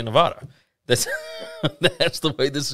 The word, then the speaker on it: Nevada: And some people say that you pronounce this Nevada, but we live in Mississippi, so we're going to say Nevada.